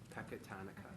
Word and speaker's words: Pecatonica: Pecatonica.